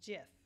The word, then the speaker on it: GIF: to show you how to make an animated gif jiff it's pronounced jiff so anyway I'm starting in the light room